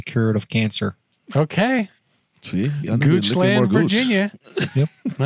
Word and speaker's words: Goochland: Well, then, gooch land in Virginia. Anything. Goodness yeah, gracious. I, is it? How can you spell that for the listeners at home, please? G-O-O-C-H-L-A-N-D.